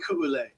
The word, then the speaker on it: Ku'ule: Yeah, it's pronounced Ku'ule. She's actually Hawaiian, and they taught me how to pronounce names and use their language, so it was pretty nice for me to figure out.